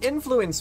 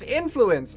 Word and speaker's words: influence: She says influence weird. She puts emphasis on flu. Influence you. It's weird. It's influence.